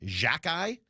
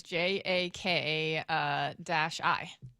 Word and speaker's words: Xhekaj: Jack-Eye? Yeah, it says Jaka-I.